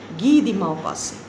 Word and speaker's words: Guy de Maupassant: But when you will pronounce it, you will pronounce as Guy de Maupassant. This is a French accent and pronunciation because the author is French.